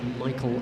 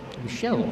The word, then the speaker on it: Michel: ve and his opponent from France will be Michael franois Michelle Fran to give him the correct pronunciation and his franois on the outside Jim